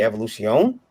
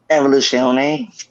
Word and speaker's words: Evoluzione: Black Bishop #1 from and this is from Marcel's company Evolution. I always pronounce that incorrectly. Is that right, Marcel? Evoluzione. Evolution. It's Italian.